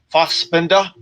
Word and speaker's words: Fassbender: You got to say it like you're German, bro. Fassbender.